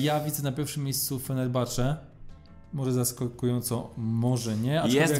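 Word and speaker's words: Fenerbahçe: może nie jest wielkie fener Bach Według mnie to jest drużyna która Pamiętaj że ha się wymawia bo to podobno tak tak podobno taka przywara polskich środowisk piłkarskich że to ch omijają intuicyjnie ostatnio dostałem Zresztą za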